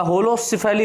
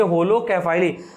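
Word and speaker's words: Holocephali: Class second जो है, class second है होलोकैफाइली या होलोसिफेली, इसको हम लोग बोल सकते हैं।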